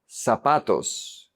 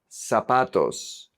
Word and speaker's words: zapatos: In Latin America, we pronounce it like an S.